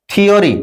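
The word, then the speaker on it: theory: কিন্তু এখানে দেখো, টিএইচ এর পরে ই থাকা সত্ত্বেও থ এর উচ্চারণ হচ্ছে। কেমন? টিএইচ ই এম E, theme, থিওরি, দেখো টিএইচ এর পরে ই আছে তবু কিন্তু আমরা থ এর উচ্চারণ করছি।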